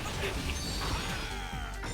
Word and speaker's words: Kibby: I also recently found out that my girlfriend did not name her cat Kibby, so I've been saying it wrong. Apparently, her cat's name is Kibby.